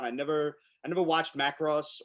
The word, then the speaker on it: Macross: never i never watched macross or macross however you want to pronounce it the emphasis goes on the other syllable uh but i'm gonna